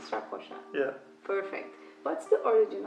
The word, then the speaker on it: Strakosha: currently at LAZIO, Thomas Strakosha. Is that right? I never knew how to pronounce your name. It's not easy, no, it's not easy. So, did I say it right? Yeah, perfect. Strakosha.